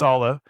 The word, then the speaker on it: Aalo: Is it Aalo or Aalo? I've listened to a few of your interviews and I don't remember, but how'd you go with the name? How do you say it? It's Aalo.